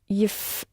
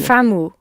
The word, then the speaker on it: يفهموا: Yifhamhu. Nearly. Yifhamu. Yes. يفهموا. Yifhamu. So see how the emphasis moves again. Yifham, yifhamu. Yishrab, yishrabu. So you're adding the tail on, and the emphasis is moved slightly.